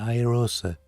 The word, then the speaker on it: iROSA: Y en inglés se dice iROSA, porque la I no se pronuncia como una I, sino como una AE.